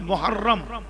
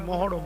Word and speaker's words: মহাররম: আল্লাহ মানে আল্লাহ শাহরুল্লাহিল মহাররম আমরা বলি মহরম মহরম নয় উচ্চারণ হলো মহাররম আমি আপনাদেরকে জ্ঞান দিতে আসিনি